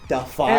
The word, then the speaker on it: Defy: Would it maybe possibly be Defy It Media? rhymes with Blafai.